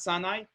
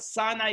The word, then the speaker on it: Sinai: it says as follows the Hebrew pronunciation of Sinai is almost identical to the Hebrew word for hatred which is sina seen a sinai almost